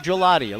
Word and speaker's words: Gigliotti: strike on Quinn Gabe gelatio looked like gigliotti pronounced gelati if anybody anywhere ever